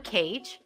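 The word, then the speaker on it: Cadge: my name is cage yeah cage is my name but the cage is spelled c-a-d-g-e uh but cage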